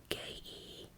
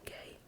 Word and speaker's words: Gaye: his last name was Gaye, so eventually he did add a E to his last name, when I guess would have been pronounced Marvin Gaye, Gaye, besides just Gaye.